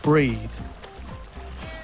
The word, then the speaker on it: breath: To hold your breath is to not breathe. Notice that the verb is breathe, spelled with an 'e' on the end and the noun is spelled without the final 'e' and pronounced with an 'eh' sound - a breath.